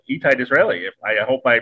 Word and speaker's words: Itai Disraeli: Lily's other half and bass player of Opium Moon and very accomplished musician in his own right, Itai Disraeli. I hope I pronounced that right.